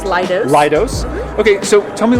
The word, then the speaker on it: Leidos: It's pronounced Leidos.